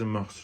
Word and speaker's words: mœurs: من اونجا برام تعجب کردم، گفتم که چرا اس آخرش رو تلفظ میکنن، قضیه چیه؟ براتم تهش رو گرفتم، سرچ کردم و فهمیدم که هر دو تلفظ درسته، اما بیشتر تلفظ مورس رو شنیدم و فهمیدم که شاید بهتره که از این به بعد بگم سه مورس، اس آخرش رو تلفظ بکنم.